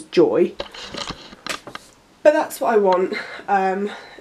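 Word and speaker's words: Joie: want is a joke it's spelt Jay oh I e but it's actually said as joy but that's what I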